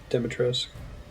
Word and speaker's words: Dimitrescu: Over in the game, pronounces it Dimitrescu.